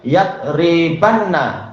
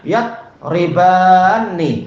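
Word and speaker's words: يَضْرِبَانِ: Kalau tidak dikasih harokat nanti disangka itu nun taukid untuk apa? Fi'il yang satu mufrad saja, huwa mufrad saja. Yadribanna. Disangka begitu. Padahal bacanya yadribani. Makanya alifnya tidak boleh dibuang.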